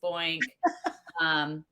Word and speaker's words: Boykan: which is more in alignment with how people pronounce my name. So I have always been B. Boykan, Boink, it's Boink.